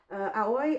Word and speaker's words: Aoi: But um yeah, Aoi or Oi, which is how I like to pronounce it, um is Japanese uh meaning blue.